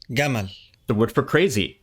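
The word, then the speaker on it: جمل: jab is pronounced gab the word for Camel jaml is pronounced gaml the word for crazy m is pronounced magon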